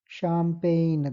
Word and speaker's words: champagne: Champagne. దాని champagne అని మీరు ప్రొనౌన్స్ చేయగలిగితే you can easily identify that G is silent.